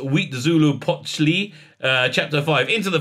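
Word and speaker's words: Huitzilopochtli: chapter three the sun king chapter four uh pronounced wheat zulu pochli uh chapter five into the fire in chapter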